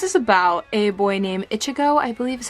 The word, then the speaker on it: Ichigo: So this is about a boy named Ichigo, I believe is how you pronounce that.